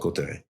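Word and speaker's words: Cauterets: It's spelled like Catarouts is what it looks like. Cotteret. Yeah. It's called Cotteret.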